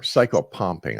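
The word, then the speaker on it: psychopomp: Or psychopumping, I should say. Yeah, very, very, very well One letter. pronounced. Little bit of Latin there.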